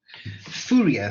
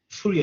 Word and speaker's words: Fourier: Fourier, so let me just type it in the chat. Fourier transform. I know there's a lot of people pronounces Fourier at different ways. Europeans pronounce it as Fourier, so the proper British